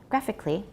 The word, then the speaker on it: graphically: graphically a 30 degree don't pronounce the last a graphically and that's true for almost all al ly adverbs megha al ly to